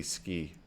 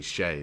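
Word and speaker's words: Skjei: by Jacob slaven sorry that was Brady ski Brady ski sh no I'm sorry Brady Shay there we go Brady Shay I actually looked that one up before the before this uh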